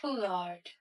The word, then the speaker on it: foulard: Like on paper, it looks so fancy. And then when I heard the pronunciation, I'm like, maybe just my accent. It was foulard.